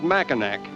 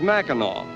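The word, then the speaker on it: Mackinac: Incidentally, when we first arrived on this unique island, we called it Machinak, but we were informed that the correct pronunciation is Macheno, as it is the French derivation of the original Indian name.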